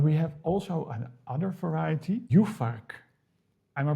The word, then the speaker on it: Juhfark: Well, I know Furmint, but we have also another variety, Juhfark. Am I pronouncing it correctly? Juhfark?